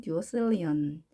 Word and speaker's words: duodecillion: 천가는 그러면 1 duodecillion, 1 duodecillion. 자, 단어가 굉장히 길어졌지만 duo 읽고 대체 읽고 일리언 이렇게 읽으시면 되겠습니다. 물론 영어는 C 양쪽에 모음 있을 때 S 발음을 하죠. 그러니까 1 duocillion.